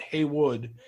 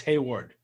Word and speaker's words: Hayward: name wrong in here it's not Heywood it's Hayward h a y w